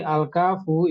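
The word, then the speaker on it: الكاف: Jadi al-kafu itu bacanya al-kaf gitu ya, nggak boleh cuma k gitu nggak boleh.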